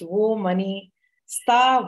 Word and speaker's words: Womoneysta: That's how it's pronounced, Womoneysta, Woman, Money, Sisterhood.